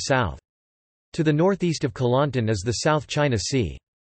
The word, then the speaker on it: Kelantan: Kelantan, Malay pronunciation, Kelantan, Jawi, Klantan RTGS, Kelantan, Kelantanese, Kelat, is a state of Malaysia.